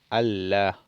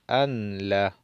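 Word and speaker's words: ألّا: Allah. Allah en vez de decir anla, porque es mejor pronunciación.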